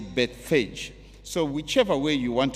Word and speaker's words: Bethphage: I found that others pronounce it as Bethphage, and others say Bethphage.